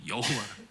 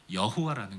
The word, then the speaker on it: 여호와: 내 하나님 여호와라.